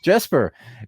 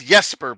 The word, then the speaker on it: Jesper: It it's Yesper by the way. I'm I'm Swedish so you know the J is pronounced like a Y.